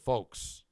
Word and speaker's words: folks: Bread Bull Brain Chris says, "I keep hearing Freebeer overemphasizing the L in the word folks." Yeah. F O L Ks is pronounced like uh Fo Kes.